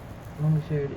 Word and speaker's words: longitude: Longitude is east and west. Latitude is north and south. Okay, got it. It's pronounced longitude. Hard G, mega F, hard G, mega F, not soft G.